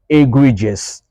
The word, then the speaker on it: egregious: it becomes e e we don't say OS we say egregious egregious egregious means outstandingly bad sharing